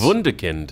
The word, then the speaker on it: Wunderkind: How do we pronounce this there, Wade? Is it Wunderkind? Yes. Wunderkind.